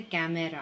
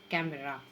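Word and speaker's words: camera: Next क्या कहेंगे हम इसे, कैमरा, है ना, कैमरा नहीं, simple E silent over here, कैमरा।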